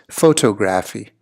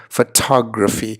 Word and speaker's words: photography: photography as a hobby what you don't want to be saying is photographic you don't want to be saying photographic so if you look at this screen the word comprises of four syllables and it's really here on the second syllable where you want to feel that tud right so photography so it gives it that nice ring that that you might be looking for so do remember it's photography and not photography and